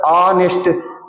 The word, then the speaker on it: honest: it is pronounced as honest H is the silent letter the answer is H